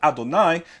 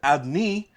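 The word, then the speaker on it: אדני: is spelled without holam so with or without hallam is still pronounced adonai they do not pronounce it adni you know they know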